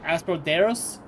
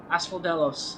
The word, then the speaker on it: Asphodelos: I couldn't pronounce the name of the place. Asperderos? Asphodelos.